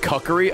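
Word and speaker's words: Kokiri: great Deco tree okay it's pronounced cuckery oh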